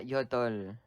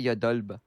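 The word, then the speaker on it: 여덟: on the chat you said yodol, the B isn't pronounced, right? Yeah, yodol. You don't say yodolb.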